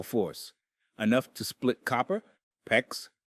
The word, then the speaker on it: PEX: When water freezes inside a pipe, it expands with incredible force, enough to split copper, PEX, rhymes with flex, or even steel.